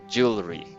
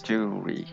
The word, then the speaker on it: jewelry: of instead of jewelry we read it in jewelry just two syllables jewelry jewelry jewelry jewelry yeah two syllables only jewel three that's it